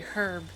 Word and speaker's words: herb: British pronounce the H. Okay, herb.